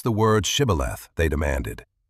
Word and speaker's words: Shibboleth: "Pronounce the word Shibboleth," they demanded. But the Ephraimites could not say it right. They said Sibboleth, a tiny linguistic slip that meant life or death.